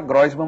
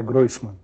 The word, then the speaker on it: Groisman: Todo mundo fala Groisman, mas você me disse que não é Groisman. É Groisman. É Groisman, né?